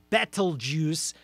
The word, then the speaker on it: Betelgeuse: in that shoulder is named Betelgeuse yet not Betelgeuse as in the movie is in the name you can't say three times battle juice I think is the more accurate pronunciation it's an Arabic name